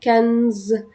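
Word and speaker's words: quinze: اول 11 لحد 16 كنز كنز كنز زي ا رقم خمسه كده زي ما كنت بنطق رقم خمسه خمسه خمسه سانك سانك سانك بيبقى النط مفتوح نفس الكلام مع 15 كانز يبقى الارقام تاني من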